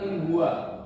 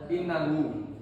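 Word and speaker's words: إن هو: Kayak tadi, harusnya kan in huwa, dia bacanya innahu, ya kan?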